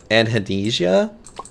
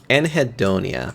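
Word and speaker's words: anhedonia: Anhadesia. I'm not saying it right probably, but that's fine. But it's essentially it's the word that means like the inability to feel pleasure. Anhadi anhidonia.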